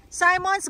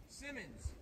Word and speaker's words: Simmons: Simmons. Oh, Simmons, not Simons. It would be Simons if there was only one M. Oh, okay. Since there's two M's, it shortens the I.